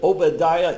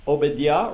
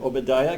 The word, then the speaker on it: Obadiah: So that's that I is pronounced as long E.